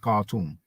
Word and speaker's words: Khartoum: University of Khartoum Sudan now in English we just pronounce it cartoon it's amazing that sometimes